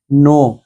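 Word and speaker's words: know: छिपना छिपाना hide hidden नो कुछ लोग इस पते किनो यनो नहीं है स्टूडेंट इसका नो के साइलेंट है यह नियम आपको बाद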